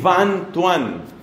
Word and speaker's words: Van Thuan: Su nombre es de apellido, el nombre no recuerdo, pero el apellido sí, Van Thuan. Ese Van se escribe con B corta y Thuan con TH, Van Thuan.